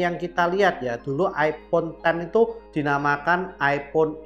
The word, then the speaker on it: iPhone X: kita lihat ya dulu iPhone ten itu dinamakan iPhone X ya jadi simbolnya bukan 10 tapi X bacanya sih tetep iPhone ten tapi ada orang yang ngomongnya bacanya iPhone X Nah kita enggak tahu